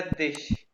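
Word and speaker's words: dich: और दू का अक्कुज़ेटिव होता है दिश।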